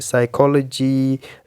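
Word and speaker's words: psychology: medical या scientific terms के related जैसे कि साइकोलॉजी नोनिया एक्सट्रा पी यहां पे silent and the letter ji silent तभी होगा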